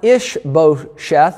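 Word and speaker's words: Ish-bosheth: and then saul's son ish beau sheth i think is how you say that and then last week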